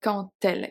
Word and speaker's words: quand: I know some people are gonna say, oh, the D is silent, but you pronounce something. Here we have a liaison. Elle sourit quand elle. It's actually a T. It's a T sound.